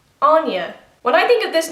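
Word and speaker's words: Áine: of pronouncing this name, but Aine is the traditional Irish way to say it.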